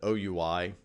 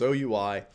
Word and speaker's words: OUI: Unfortunately, we pronounce that OUI, the acronym. I wish we said we, but we don't. It's OUI, and that's exactly what it does.